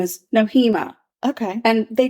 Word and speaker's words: Nohema: it noema noema but they say it fast and it just yeah it flows beautifully right last name Graber noema I'll remember that noema she decided to go